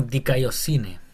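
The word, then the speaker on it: δικαιοσύνη: Sería como dikaiosine. Acuérdense que lo Dicayosine. pronunciado, es mejor pronunciarlo como I que como U. Ah, tienes razón. Dicayosine.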